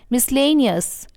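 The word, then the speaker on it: miscellaneous: Wednesday स मैं इसे मिसलेनियस नहीं बोलते इट्स मिसलेनियस मिसलेनियस मिसलेनियस है मैं इसे बोलते हैं एग्जिक्यूटिव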